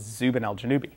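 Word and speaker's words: Zubenelgenubi: the Moon is zubaneshibali and below it is Zubin Al janubi yes and right next to the Moon is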